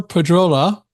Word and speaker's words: Pedrola: We're going to be chatting with Flor Pedrola. That's my English pronunciation of Pedrola.